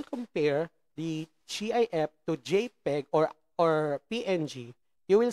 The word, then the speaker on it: JPG: dot png so that jpg pronounced as jpeg stands for joint photographic